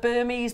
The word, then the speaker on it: Burmese: also promise ourselves that when you're talking about this if you do retail or your gift you say it's burmes yeah absolutely because it